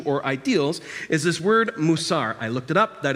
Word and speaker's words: musar: for ethics virtue or ideals is this word musar I looked it up that is how it is pronounced discipline or teaching is what that says